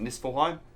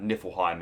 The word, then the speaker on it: Niflheim: Just because I might be pronouncing it right. It might be Niflheim. What is it? Niflheim?